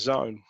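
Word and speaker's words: Xone: My specific area, and that word that begins with X, even though we say it like it's a Z, is Zone.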